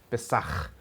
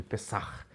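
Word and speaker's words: Pessach: falava lá no hebraico, Pessar, esse R que você arrasta na na garganta para poder falar ele. Pessar. Isso é a forma como os judeus falam Páscoa.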